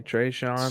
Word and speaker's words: Tre'Shon: do you prescribe it oh tre-3 uh s-h-o-n that's all I say Trey Sean spell it all the way out that makes sense all